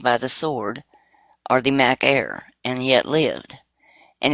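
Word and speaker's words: μάχαιρα: The word for sword is Mac Air. It's pronounced just like your Mac Air computer.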